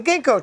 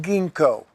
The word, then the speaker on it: ginkgo: The ginkgo tree is not pronounced ginkgo. It is not. No, it is ginkgo.